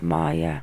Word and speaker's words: Maya: luciantes by the way maya is pronounced maya yeah i'm starting to